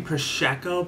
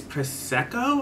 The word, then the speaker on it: prosecco: peach sparkling proscico girl someone corrected me i'm saying proshecko but it's prosecco i think i still